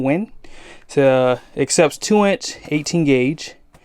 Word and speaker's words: WEN: It is a Win, I guess that's how you say it, W-E-N, Win.